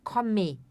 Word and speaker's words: komme: A pronúncia aqui desse e no final não é um e enfatizado, né? Ich komme. É ich komme. Ich komme, como se fosse um a, assim, no final, tá?